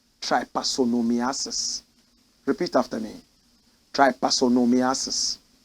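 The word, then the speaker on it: trypanosomiasis: somebody is sick there's a setting sickness called try parsonomiasis repeat after me try parsonomiasis try parsonomiasis what is that watch this tryposomiasis is any tropical disease caused by panosomes I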